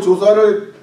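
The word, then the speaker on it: Joshua: 우리는 인도에서 우리 조슈아를 낳았기 때문에 우리는 평생 외국에서 살겠다.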